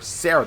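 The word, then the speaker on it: Serah: Lightning Sister Sarah, that is spelled S-E-R-A-H, not how you usually spell Sarah, I know, it's weird, had found the fal'Cie from Pulse and has been changed into a Lissie.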